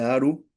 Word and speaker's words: Aru: Campiña de Aru, Aru, lo pronunciar bien. A de avión, R de ratón, U de unión.